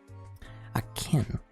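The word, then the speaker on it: Aachen: Akin. A-A-C-H-E-N. That's how it's spelled.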